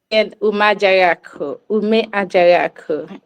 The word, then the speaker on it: Umeajaghaku: First order of business, please pronounce your last name correctly because I butchered it. Umeajaghaku.